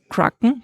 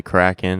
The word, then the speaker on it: Kraken: say it actually um I think either way is fine I think most Americans although there might be some regional exceptions I think most Americans say cracking and most of the rest of the world says crackin as far as I understand it means a octopus